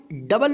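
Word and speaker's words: do: Are double ओ एम इसको क्या पढ़ेंगे? रूम। देखिए इसमें बड़ी ऊ का उच्चारण हो रहा है।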